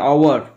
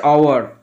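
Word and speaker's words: hour: এর উচ্চারণটা হাওয়ার নয়, আওয়ার, এটা লেখাটা হচ্ছে না ঠিক করে। এর উচ্চারণটা হচ্ছে আওয়ার, ও অন্তেস্ত একার, আওয়ার, আওয়ার।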